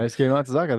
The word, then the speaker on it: Daisuke Matsuzaka: Daisuke Matsuzaka.